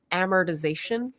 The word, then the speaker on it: amortization: So it's like we kind of swallow one of the syllables. So amortization, right?